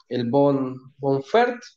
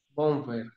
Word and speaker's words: Bonhoeffer: mirando el libro de, no sé cómo se pronuncia, el de Bonfert, es que se pronuncia ese, el autor, el pastor Ah, alemán, Dietrich Bonhoeffer. Bonhoeffer, claro.